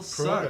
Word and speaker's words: Proto: He still Proto. sucked. It rhymes with Frodo.